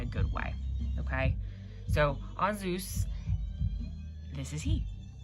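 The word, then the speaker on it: Ansuz: We pronounce this as On Zeus, or On Zeus.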